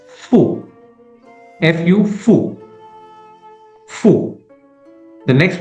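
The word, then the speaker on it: ふ: It's not who but pronounced as fu fu fu fu.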